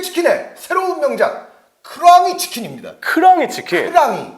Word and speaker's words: 크랑이: 크랑이 치킨. 크랑이. 오. 네, 크랑이. 제가 약간 버터 냄새나게 발음을 했는데 네. 예, 호랑이이기 때문에 크랑이. 네.